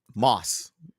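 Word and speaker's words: Motss: meet with uh Stanley mods um Moss the t is silent I will always call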